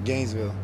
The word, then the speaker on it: Gainesville: Hey, Deshaun, your hometown, you pronounce it Gainesville or Gainesville? Gainesville.